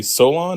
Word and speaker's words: Soulaan: You are a Solon.